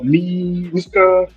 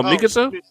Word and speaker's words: Mikasa: Miska. I said it right. who are you talking What's about? her girl? Oh girl, his sister, his adopted sister. Oh, Mikasa?